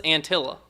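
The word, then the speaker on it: Anttila: The vowels across the name are all pronounced the same. That's how that's how you know how to how to pronounce it. Nicholas Antilla.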